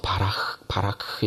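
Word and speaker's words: ברך: 이 단어가 히브리어 원문에는 바라크라는 발음이 우리말 같은 발음으로 표현하기 정확치는 않지만 바라크 이렇게 발음이 되죠.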